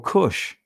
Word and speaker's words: Kush: kawash in the europe in the israeli pronunciation couch or kush so woe to the